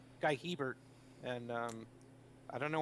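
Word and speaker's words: Guy Hébert: um uh guiller bear who he just adopted a new pronunciation of his name because when he was coming up it was guy herbert i mean guy guy hebert and um i don't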